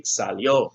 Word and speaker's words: salió: For Alicia, that's the third person singular, so it would be salió, salió. With an accent on the O.